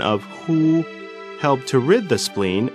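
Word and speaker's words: 呵: heart Meridian the pronunciation of who like The Who and the English word Hoover the pronunciation is assisted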